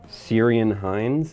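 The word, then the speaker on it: Ciarán Hinds: doesn't blend in with the scene at all syrian hines is that how you say it yes yeah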